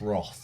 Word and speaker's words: wrath: It's pronounced Roth.